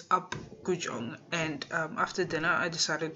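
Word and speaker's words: Apgujeong: So yeah, we had dinner at Upgujong. I pronounced it wrong, but it's Upgujong.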